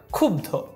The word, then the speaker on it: ক্ষুব্ধ: হবে সরস্বতী জিজ্ঞাসা জিজ্ঞাসা ক্ষুব্ধ এখানে খ রসুকার বধ ওকার এভাবে উচ্চারণটা হবে ক্ষুব্ধ আশা করি বানানো উচ্চারণ